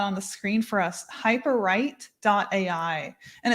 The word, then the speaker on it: Hyperwrite: Hyperwrite.ai. And it's spelled just like it sounds. So hyperwrite, like writing a book.ai.